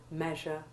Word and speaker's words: measure: Important exceptions are breast, pleasant, and all words in which the EA is followed by SURE, like measure, pleasure, and treasure. All these have the short E1 sound.